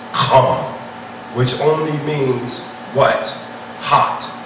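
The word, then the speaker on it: חם: We know in Hebrew the word is pronounced Kam, which only means what?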